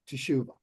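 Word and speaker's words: תשובה: a full word here T Shuba but the first letter has a silent Vel which means there are two syllables here the T and the Shu a lot of times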